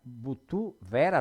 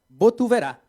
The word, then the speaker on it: Botuverá: Butuvera, da onde?